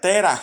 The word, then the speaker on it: Taré: en el idioma original el nombre de Taré, que nosotros llamamos Taré y que Taré era el padre de Abraham, se pronuncia Terah, y viene la NBI